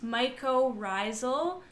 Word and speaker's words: mycorrhizal: got it right it's my co Raizel and so it's my co for fungus and Raizel for root Wow so mycorrhizal what